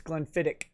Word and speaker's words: Glenfiddich: i like glenn lovett but i also like glenn fittich that's that's how you say it right yeah uh yes it's glenfiddich i think uh my my grandfather loved glenfiddich